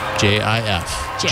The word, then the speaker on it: GIF: It's pronounced GIF. JIF.